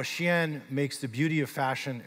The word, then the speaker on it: SHEIN: which is Shen and it is pronounced Shen not shine or other other words